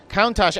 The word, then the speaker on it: Countach: of their upcoming brand new original model lamborghini countach countach there we go countach actually i'll admit i had to look that